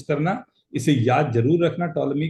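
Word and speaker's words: Ptolemy: That's called टॉलमी। हां। ध्यान से बोलते तो टॉलमी है लेकिन समझ गएगे कॉलम लिखिए पी साइलेंट ना ए बी सी अगर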